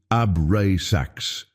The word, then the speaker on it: Abrasax: Say it slowly, Abrasax. Feel each syllable. AB vibrates in your root, in your base. RA expands through your solar plexus, the seat of personal power. Sax completes in your crown, the gateway to the monad.